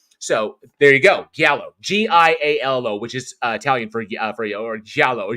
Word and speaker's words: giallo: So it's almost like trying to take a different frame of reference on the horror film, which is what makes giallo so interesting and so special.